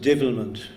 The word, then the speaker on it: devilment: I quickly learned to spot that spark of devilment in his eye, and the word should be pronounced divilment, to give it its true Irish inclination.